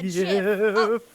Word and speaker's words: GIF: Apparently, the creator pronounces it Uh, JIF. Yip. No, no, no. I'm pretty sure they said JIF. And And Yif is a joke that someone else made. They pronounced it with a J sound.